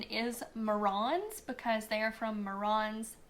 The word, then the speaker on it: Marans: Now, black copper marrons, they are from France, and the correct pronunciation is marrons because they are from Marans, France.